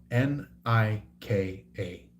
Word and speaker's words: Nika: So, it's it's spelled N I K A. Nika. The um so her name is like um like Egyptian or Libyan uh derived uh like like ancient uh Egyptian or Libyan. So it's like it has that um you know old pronunciation to it.